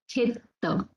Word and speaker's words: khetta: So you can observe the difference here. How we pronounced this deva? It was deva. Deva, where A was long, and here it is khetta. Metta. Khetta. Metta. So the sound of A is shortened, it is contracted.